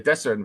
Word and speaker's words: Desarin: Was it Desarin? Is that how you pronounce it? The Desarin Valley. The Desarin Valley, yes.